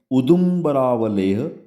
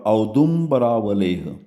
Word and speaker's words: Audumbaravaleha: The name is Acivin, but it contains the generic medicine that is Udumbaravaleha or Audumbaravaleha. वही है, same. चाहे वो आप pronounce उदुम्बरावलेह करें या औदुम्बरावलेह करें.